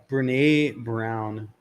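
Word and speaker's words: Brené Brown: Brene Brown, Dare to Lead.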